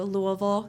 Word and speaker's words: Louisville: And then my with that company, I was transferred to Louisville, Kentucky. That's how you say it. Louisville.